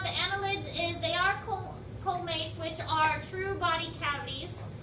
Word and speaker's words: coelomate: So other things about the annelids is they are colmates, which are true body cavities. I think they're pronounced coelomates.